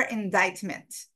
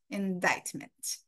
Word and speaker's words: indictment: with the indictment and remember indictment no k sound indictment um subpena subpena uh